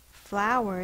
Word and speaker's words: flower: So flower is actually two syllables. Ow is a diphthong, And ER is an R-controlled vowel.